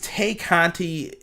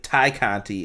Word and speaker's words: Tay Conti: In all of this, Tay Conti, her focus is... excuse me, I shouldn't say Tay, it's Ty. Ty Conti is how they kept pronouncing it.